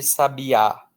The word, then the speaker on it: sabiá: esse padrão de letras, um brasileiro vai olhar para essa palavra e vai dizer que aí está escrito sabia. Tudo bem? Mas e se eu quisesse escrever sabiá? E se eu quisesse escrever sábia? Bom, aí com esse padrão de letras que eu tenho nesta palavra, eu não poderia contar só com as letras.